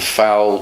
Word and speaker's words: foul: But of course, the pronunciation of fowl, the chicken, and foul when you hit somebody in the football match, F-O-U-L, is the same pronunciation.